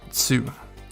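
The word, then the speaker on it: つ: remember it it's um it's almost like you're saying the word to but it's just two the tns sounds are together so you caught two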